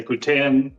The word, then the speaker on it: poutine: So if you don't know what a poutine is, you can pronounce it. If you're French, people say poutine. Mainly all of the rest of Canada will say poutine.